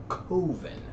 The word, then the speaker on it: Coven: koven which is koven I know it's pronounced coven but he pronounces it koven uh that camera those